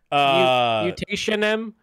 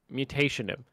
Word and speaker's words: Mutationem: Mutationem? Mutinium. Metonium. Metonium. Metonium? Okay, think of mutation and then add an EM to the end. Yeah. That's how you spell that. If you're Mutationem.